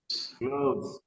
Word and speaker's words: gloves: Gloves. All right. Gloves, everybody. Gloves. Gloves. It's like when you say love, right? Love. I love you. Gloves.